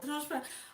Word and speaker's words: transparent: See where the strong syllable, Maybe. the strong part of the word Yeah. goes in a different place.